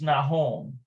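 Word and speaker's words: נכון: Okay, so this is Nahon or Lo Nahon. I'm almost certain it's Nahon.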